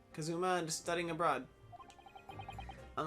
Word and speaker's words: Kazuma: oh kazuma because yama i say kazuyama but i think it's kazuma kazuma just studying abroad i'm